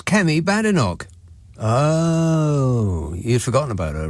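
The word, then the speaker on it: Kemi Badenoch: It's Kem Badinog. Oh, you've forgotten about her, right? It's easy to remember. Chem looks like Semi and then just split her last name by syllables. Semi bad Enoch.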